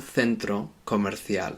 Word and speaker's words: centro comercial: If you're learning Spanish to speak in Spain, most people in Spain, they pronounce C's like this, C-E and C-I, like a th. So it would be un centro comercial.